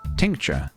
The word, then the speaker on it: tincture: um helps doesn't it it's pronounced like texture with an N tincture interesting the trees are